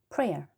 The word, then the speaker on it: prayer: 어떻게 하냐면 prayer 그냥 에 발음이에요.